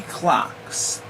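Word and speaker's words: CLX: to the series will be clocks and it's spelled c l x that'll be the next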